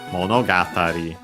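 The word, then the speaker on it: 物語: The accent is on the first mora of the second part of the compound, so on the ga. Monogatari, low, high, high, low, low.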